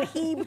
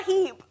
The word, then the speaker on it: H-E-B: Is it pronounced Heb or is it H-E-B? Or is it Heeb? It's certainly not Hebe, buddy.